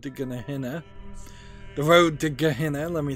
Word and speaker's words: Gehenna: The Road to Gehenna, let me say it correctly this time.